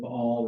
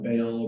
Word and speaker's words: Baal: with Elijah and the prophets of Paul or Baal or Paul how you want to say his name um this is going